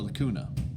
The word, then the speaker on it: lacunae: likutey goes in the lacunae it rhymes if you say 'la cootie and the lamella doesn't rhyme so it's just something